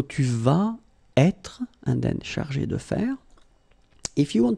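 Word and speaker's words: chargée: You don't pronounce it because phonetically it doesn't exist, but you need to write it. Okay, il, elle sera chargé de faire.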